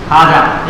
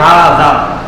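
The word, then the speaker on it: هذا: حاجہ یہ غلط ہے، حاجہ نہیں بلکہ حاذا.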